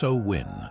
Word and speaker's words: Samhain: Pronounced Samhain, this was not a single night of trick-or-treating,